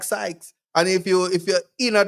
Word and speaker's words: Sykes: a Chief Justice like Sykes. And if you're in a dancer, say because Syke rhyme with Pike, it just everything just right.